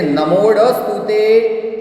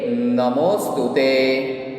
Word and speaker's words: नमोस्तुते: जो यहाँ पे आपको एस दिखाई देता है, ड दिखाई देता है, that one is silent sound. नमोस्तुते मो है, इसलिए उसके साथ इसका प्रोनाउंसिएशन हो ही जाएगा, इसलिए नमोडस्तुते, that one is wrong. This is wrong pronunciation. Okay, here we से नमोस्तुते।